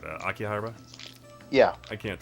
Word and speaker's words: Akihabara: Like I was in Ikehara. How do you say it? Akihabara.